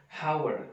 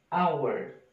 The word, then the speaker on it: hour: to our Kenapa karena ketika kita membaca How ini kita bacanya bukan hower tapi Hour Hour and now I Hai